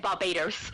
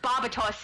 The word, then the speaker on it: Barbatos: actually to start with I said Barbados because I misread it but barbatos is what I changed it to when my brother